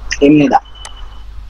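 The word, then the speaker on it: 입니다: তাহলে বিয়োগের পরে নিয়ন আসে, বি এর উচ্চারণ ম হবে।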